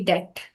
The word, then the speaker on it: debt: But if that's wrong, it's supposed to be debt. Debt. Yes. D E T. We have to miss B while pronouncing that, right?